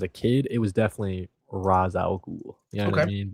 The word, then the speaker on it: Ra's al Ghul: You know, I guess like in the last couple of years, I started saying Raish. But if you asked me, like when I was a kid, it was definitely Ra's al Ghul.